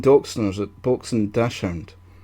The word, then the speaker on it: Dachshund: It's Dachshund. It's German. Dachshund. Dachshund. Dachshund. Yeah. Right, so is it both or one or the other? I think it just depends on how you say it, how you want to pronounce it. I think the proper pronunciation is Dachshund.